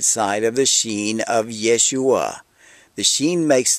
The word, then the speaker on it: shin: let's start with a Hebrew letter called the sheen spelled s h i n it looks similar to